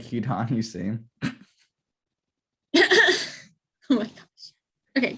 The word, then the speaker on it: Hidan: Hida, Oh, you're close. Hidan. It's more on the end. Hidan. Hida. That sounds Middle Eastern. That sounds Middle Eastern. Like Hidan Hussein.